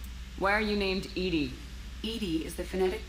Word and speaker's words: EDI: a specific inquiry why are you named Ed Ed is the phonetic pronunciation of Ed that is an acronym for